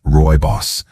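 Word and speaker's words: rooibos: Roy Boss tea, pronounced Roy Boss, may not be as familiar as green or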